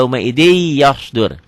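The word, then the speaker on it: يَوْمَئِذٍ يَصْدُرُ: Tulisnya yauma idzin, dibacanya jadi yauma idzi yasdur.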